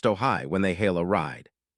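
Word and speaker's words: Ojai: For now, customers in these markets may be matched with the new robotaxi, called the Ajay, pronounced Ohai, when they hail a ride.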